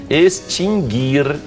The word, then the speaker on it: extinguir: Adquirir, extinguir e distinguir. O U não é pronunciado. Não é extinguir, não é extinguir.